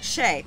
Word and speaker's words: Shay: my w and yep my name is said like Shay okay Shay sorry but my mom